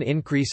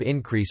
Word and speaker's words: increase: For example, the noun increase and the verb increase are distinguished by the positioning of the stress on the first syllable in the former, and on the second syllable in the latter.